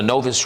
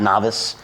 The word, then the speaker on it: Novus: Novus is NOVUS, and it's pronounced Novus, not Novice. If you call me Novice, just call somebody else.